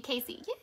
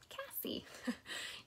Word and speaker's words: Cassie: so yes not good I love how you say my name right everybody calls me Casey yeah Cassie Oh Sally said thank